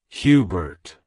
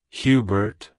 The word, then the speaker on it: Hubert: it's pronounced as Hubert Hubert Hubert to pronounce it correctly emphasize the H sound at the beginning and the oo sound s in the first syllable The Bert is pronounced as Bert in Albert like hello Hubert goodbye